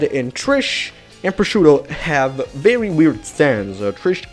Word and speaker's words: Prosciutto: the wee pronunciation but this is actually how this word is pronounced as pronounced prosciutto not prosciutto but i'm gonna name them